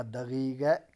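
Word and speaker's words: دقیقه: معنی گھنٹے کے ہیں، لیکن تلفظ اس کا دقیقہ کیا جاتا ہے، دقیقہ.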